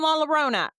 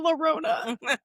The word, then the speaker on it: La Llorona: You know, Laalona's in there and we can't have none of the kids' friends coming over and sitting on Laalona. Not laona.